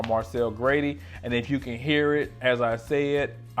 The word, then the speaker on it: Grady: Last name is Grady, which is Irish, Grati, and Marcel is more like miracle, but it's Marcel. So I do like my name is Marcel Grady, and if you can